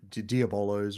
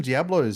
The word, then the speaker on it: diabolo: Yo-yos, beer, Diablo, diabolos, rather. Um Oh, is that how you say it? Kandama. Yeah. Everyone calls them Diablo, but they're actually Diabolos or something like that.